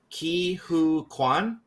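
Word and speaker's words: Ke Huy Quan: The one win that I liked, and I'm gonna mispronounce his name, so I apologize in advance. Ki Hu Kwan.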